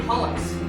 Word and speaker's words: hallux: Miss Ostrovsky, Hollix.